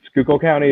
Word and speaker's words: Schuylkill County: And so it was designed where in the old district, I believe it's Schuylkill County. Am I pronouncing that right? Yes, that's right. You got it on the money.